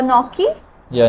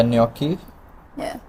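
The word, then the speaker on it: gnocchi: are you doing uh noi yeah noi yeah noi spelled with the G guys uh fili that was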